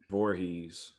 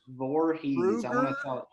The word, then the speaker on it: Voorhees: last name again i always do it wrong voorhees voorhees krueger jason not to be confused with chad